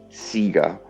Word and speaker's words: Sega: we can get pedantic about it could be sega as in like a different pronunciation of the e well it it's not